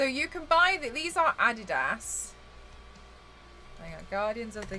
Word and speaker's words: Adidas: Oh, if you guys don't know, in the UK we pronounce it differently. It's not Adidas. It's Adidas here and Nike.